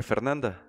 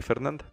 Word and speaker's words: Fernanda: Entonces tenemos el nombre Fernanda. Lo podemos dividir en tres sílabas. Fer, nan y la última, da. Repitámoslas. Fer, nan y da.